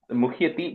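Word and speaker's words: मुह्यति: Muhyati, just be careful, okay? It's a short E at the end.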